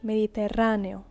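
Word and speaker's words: Mediterráneo: Mediterranean Sea you see the a the accent Falls in different places uh in English Mediterranean in Spanish mediterrano mediterrano so again written very very similar similarly but with a different type of pronunciation Med El mediterano Mar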